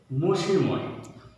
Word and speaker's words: মসিময়: মসিময় এর সঠিক উচ্চারণ হচ্ছে মসিময়, যার মসিময় যার অর্থ হচ্ছে অন্ধকারাচ্ছন্ন।